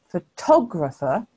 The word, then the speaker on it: photographer: the next word photographer can you see that the stress mark has shifted to the second syllable because we say photographer so it's different to photograph can you hear as